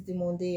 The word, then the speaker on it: demandé: Remember, this is demandé. Every time there's an accent on the E, don't skip.